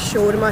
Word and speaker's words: shawarma: हमोस ऐड करेंगे इसमें, बताइए असल में बताएं मुझे शवरमा है या शोरमा है?